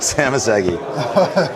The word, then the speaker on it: Szamosszegi: Sami.